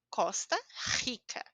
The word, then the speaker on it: Costa Rica: sou da Costa Rica Costa Rica escutaram a letra R essa forma como a gente fala é a única forma que nós temos da letra R ao início da palavra ou dois R juntos então parece estranho eu